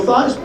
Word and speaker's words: Theismann: think by just simply changing the pronunciation of your last name from these four the thighs the Ryan Theismann we guarantee you that trophy that's how I wound up becoming Joe thighs and it's funny how